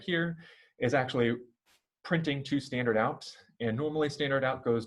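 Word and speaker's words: stdout: captured std out call this std out is pronounced standard out uh standard out is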